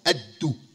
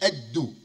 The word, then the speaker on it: Addu: moving right here to, I call it Addu. That's how I pronounce it. My wife said, where you at? Where you at? I said, Addu. She said, I'm sure it's not pronounced like that.